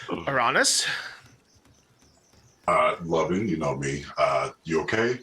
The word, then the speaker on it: Lovyn: And it just said, and so his name is spelled Lovyn. And now you see painted in full on the sign, it says Lovin, spelled like that, Lovin these deals.